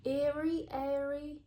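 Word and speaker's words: Aery: And this is the brand Airy. It's spelled A-E-R-Y.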